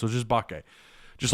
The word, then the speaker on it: Mbake: bakke by the way the m is silent apparently it's not umbake it's just bokeh samuel bake i've been calling him mimbacay i mean you know